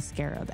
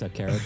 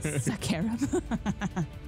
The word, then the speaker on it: Scarab: And then could I try throwing my Axe of the Scarab at the one closest to Mateed? It's pronounced Sakarab. Sakarab.